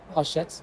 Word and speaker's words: Hachette: Uh, it is pronounced hashet and I was like, sorry.